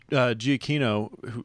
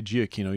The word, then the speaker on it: Giacchino: And Michael Giacchino, I say Giacchino, you guys were saying Giacchino. I don't know what happened to that other syllable there, but regardless, I'll tell you what I thought.